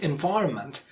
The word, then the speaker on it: environment: For example, in the word environment, the second syllable, Y, is the most prominent, or it is the stressed syllable.